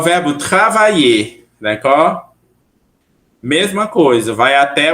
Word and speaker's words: travaille: Então, travaille, Repetir. Travail. Travail. Travail. Parfait. Então, eu trabalho vai ser como? Je Travail. Travail. Je travaille. Muito bem. Com o E no final, mas não se pronuncia, ok?